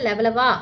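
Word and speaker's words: Levallois: அடுத்து லெவலாயசியன் அப்படிங்கிறது இது வந்து லெவலவா அப்படிங்கிற பிரஞ்ச் மொழி உச்சரிப்பு கற்கருவி செய்யும் மரபு இந்த காலகட்டத்தை சேர்ந்ததுதான்.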